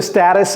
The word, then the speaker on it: status: Next, what's the status of the deliverables?